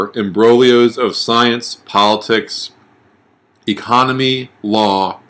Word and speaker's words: imbroglio: mesh together but there they are called imbroglio right what a great word that is silent G word and so in Brolio